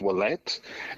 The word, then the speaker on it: Ouellette: name is and my last name you pronounce wette even though it's an O it makes a makes a double your sound um it's a French name I am originally from